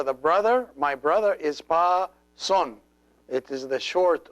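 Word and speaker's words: ⲡⲁⲥⲟⲛ: This letter is always pronounced an S. It looks like the English C, but it's always pronounced S. So it's pa son.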